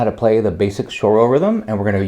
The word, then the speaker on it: choro: little bit about Brazilian shoro music I'm sure I'm mispronouncing this Portuguese word but I'm going to just call it choro music uh there should probably be more of a sh sound in there but whatever we're just